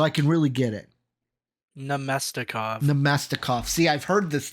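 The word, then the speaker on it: Namestnikov: I totally butchered that one. Yeah. Say it again for me so I can really get it. Namestikov.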